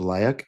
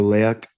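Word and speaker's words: leyak: It's called Leak. L E Y A K. Really? Yeah. Or Leak. I think you say it leak.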